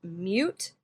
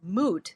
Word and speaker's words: mute: So the word mute has that little Y in there. We could call it moot.